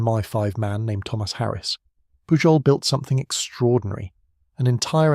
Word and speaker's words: Pujol: The finest of those men was a Spaniard named Juan Pujol Garcia, pronounced Pujol, who loathed totalitarian rule of every colour and had volunteered himself to the Allied cause.